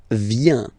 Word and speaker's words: viens: First form, je viens. Final S not pronounced.